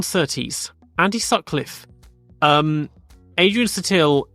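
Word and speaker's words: Adrian Sutil: Andy suck Cliffe um Adrian satil in German it's going to be more like Adrian zuil or Adrian zuil something more more like that in German Len Sutton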